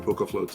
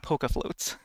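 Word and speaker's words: Poké Floats: You have to pronounce the e like it's a it's not poker floats.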